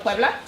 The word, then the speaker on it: Puebla: at the Battle Of Puebla?